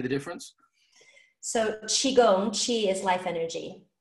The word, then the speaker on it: qi: So Qi is pronounced Qi. Okay, I've also seen it spelled C-H-I. So it also is C-H-I, which you hear Tai Chi.